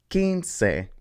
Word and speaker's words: quince: This is quince. So that means that the beginning part is pronounced ki. So this word is quitar.